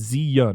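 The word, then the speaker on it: Zi Yuan: It's Zi-Yun. Yeah. Is it Yun? Zi-Yun. Yeah, Yun.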